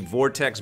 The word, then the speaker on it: Vortx: game I'm gonna put the vortex box here but it's spelled vor TX and it's by whirlwind FX